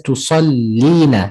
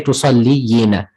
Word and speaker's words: تصلين: أصلي So you pronounce it, you're correct. You just pronounce it as tusallina. So you wouldn't still say tusalliyina because Okay. there is already a ya there. So we use that ya that is there.